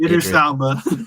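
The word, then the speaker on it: Idris Elba: Idris Alba.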